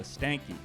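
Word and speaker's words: Stenkie: I'm going to take quite a look at the Joe Botnick says Stinky, and actually it's not spelled S-T-I-N-K-Y, it's spelled S-T-E-N-K-I-E, so Stanky, or Stanky.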